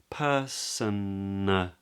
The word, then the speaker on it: personally: Now the A after the N is not pronounced in the UK. So, I mean, I'm sure that some people do, but most people would elide that A.